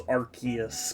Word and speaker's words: Arceus: I've always says RCS. I mean, I understood, or I thought it was that the official pronunciation was Arceus, because I thought that was how they were referring to it in, like, marketing.